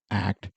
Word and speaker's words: ACT: or ACT which therapists actually pronounce in a single word ACT and not the initials ACC was developed in